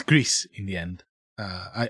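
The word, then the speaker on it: Gris: First one is called Greece. It's Greece in the end. Uh I I checked the pronunciation online.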